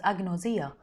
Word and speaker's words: agnosia: eyes are impaired agnosia is a Greek term pronounced as agnosia which means unknown or the absence of knowledge